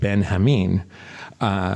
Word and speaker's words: Benjamin: And there's what I would have called General Benjamin is pronounced Ben Hameen, which that makes sense, I guess, because it's a Spanish setting.